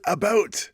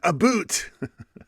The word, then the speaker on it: about: I pronounce it about not a boot. No, you guys do say a boot.